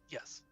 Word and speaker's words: JQESS: Yes. It's Lord, it's not spelled exactly. It's pronounced yes.